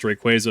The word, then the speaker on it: Rayquaza: I know that it is pronounced Rayquaza officially. I've been saying Rayquaza for the past 20 years.